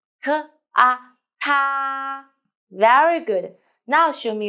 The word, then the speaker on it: 它: 它它 Remember, open your mouth. 它 Very good.